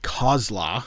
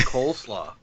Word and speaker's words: Kozla: Marty Kozla, as it would be in the movie. Really? I was calling him coleslaw because that's basically what it looks like how it's spelled.